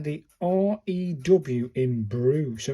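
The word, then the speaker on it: り: R-I, pronounced like the R-E-E in reef. So this is a re.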